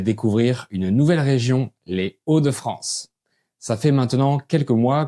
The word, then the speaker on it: Hauts-de-France: Et on prononce les Hauts sans faire la liaison.